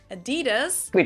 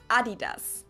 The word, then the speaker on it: Adidas: were referring to because they usually pronounce it Adidas and in Germany we say Adidas Adidas Adidas Adidas Adidas